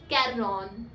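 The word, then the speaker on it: quarante: यू the next number which is 40 is pronounced as कैरन char if यू सी we have N ई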